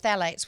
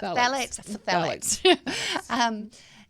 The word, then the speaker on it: phthalates: Another one is phthalates, which is the most tricky word to pronounce and spell. But phthalates.